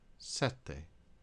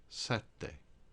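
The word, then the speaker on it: sette: before the consonant now if you have a double constant as we see in the next word you pronounce one of the consonants at the end of the first syllable and the second constant at the beginning of the next set de set de if that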